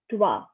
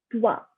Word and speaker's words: trois: 1 is un, 2 is deux, 3 is trois, 4 is quatre, 5 is cinq, 6 is six, 7 is sept, 8 is huit, 9 is neuf, 10 is week. Again, I'm gonna repeat them. Un, deux, trois, quatre, cinq, six, sept, huit, neuf, dix.